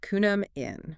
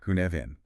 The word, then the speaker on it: Cynefin: Which is pronounced, and let's get this right up front, Cynefin. Cynefin.